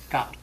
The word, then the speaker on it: Kal: And so that's what most people have done to so it's two syllables. Kal is easy enough. Kal.